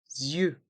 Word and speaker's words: yeux: ce mot oui c'est ça on épelle ensemble y e u x deux lettres à bien pratiquer pour bien les dire c'est très difficile à prononcer tout seul donc on va rajouter un